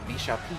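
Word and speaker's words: Vishap: Shop's assault you know it may seem like it's supposed to be pronounced vop but what's actually happening is that he is a producer for the game so his uh name is properly pronounced visha Isa to me wub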